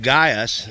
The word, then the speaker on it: Gaius: a letter to uh a guy by the name of Gaius or that's how I'm going to pronounce it it's g-a-i-u-s I don't speak Greeks or Latin or Hebrews so I'm just going to call it Gaia so bear with me if I say it wrong and it's a uh